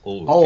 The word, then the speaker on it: Allwood: Allwood, yes. Allwood. Oh yes, I must remember my pronunciations.